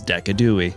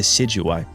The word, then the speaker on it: Decidueye: And its name is Decadooi. Now, my chat thinks I can't pronounce its name right. They call it the Sigui, and they're probably right.